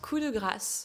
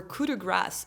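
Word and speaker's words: coup de grâce: It's pronounced cuda grass with a French accent or cuda grass if you have an American accent just like the grass in your backyard.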